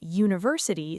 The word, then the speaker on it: university: We say a university even though university starts with u which is a vowel letter. Right? Because university starts with a u sound which is actually a consonant sound. Your mouth makes the same shape as when you say yes.